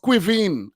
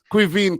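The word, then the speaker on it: Caoimhín: from irish yeah it's it's pronounced quivine i could have never said it cuisine cuivine yeah yeah yeah cuisine yeah so don't forget that quivine kelleher he was awesome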